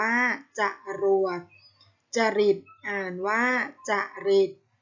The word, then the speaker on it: จรวด: กนก อ่าน ว่า กนก จรวด อ่าน ว่า จรวด จริต อ่าน ว่า จะ